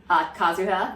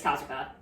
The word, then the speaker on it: Kazuha: Kazuha. Well, his last name is Kaida. Well, because last name, first name, because Japanese. Okay. So first name is Kazuha.